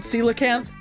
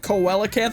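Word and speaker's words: coelacanth: Celacanth. The one that's like impossible to catch. I I kept saying I think I said pronounced it like coellacanth or something. It's celacanth.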